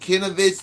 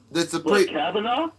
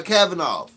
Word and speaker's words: Kavanaugh: I can't pronounce his name that good. Kanovich. That's a Kavanaugh? Yeah, Kavanaugh.